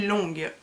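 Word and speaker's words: lóng: prononce les idéogrammes chinois, ça se dit longue. Enfin, excusez, j'ai pas l'accent, hein, mais du coup longue.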